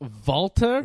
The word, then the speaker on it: Walter: those popular wrestlers on the internet so it's pronounced Volta yeah he's not Walter it's Walter but vault